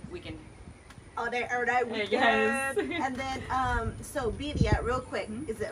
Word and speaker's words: birria: And then, so birria, real quick. Mm-hmm. Is it, am I saying it right? Birria. Birria. So birria. You have to roll the R.